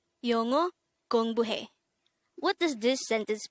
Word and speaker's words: 영어: 영어. This is pronounced as a two-syllable word. The first syllable is 영, the second syllable is o. Pronounce it with me. 영어.